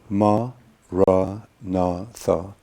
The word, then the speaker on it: Maranatha: you choose this word you say it is four syllables ma rah Natha you repeat it silently